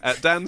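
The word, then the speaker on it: dah: da is how you say the long...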